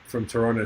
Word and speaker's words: Toronto: And you say it right, you're saying it proper, so I can tell you're actually from Toronto, so it's good. Not Toronto. I like that. I respect Toronto.